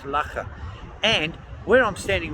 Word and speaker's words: Loughor: It's called Loughor Castle, Loughor, pronounced Loughor.